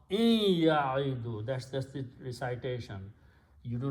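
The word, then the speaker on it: يعد: Okay, so what we do to make easy on the tongue, we pronounce only one sound letter instead of 2. Okay, and this is pronounced as kasra, so it becomes ya'idu. We don't pronounce wow.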